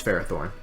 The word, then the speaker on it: Ferrothorn: are coming Feeny Ferrothorn that's a stupid pronunciation it's Ferrothorn Ferrothorn meloetta it's three mega